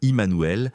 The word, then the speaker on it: Jmmanuel: Pour un germanophone, cela se prononce comme Emmanuel, un nom d'origine hébraïque signifiant Dieu avec nous.